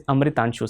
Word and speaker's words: Amitanshu: How do you pronounce it? It is Amitanshu, sir.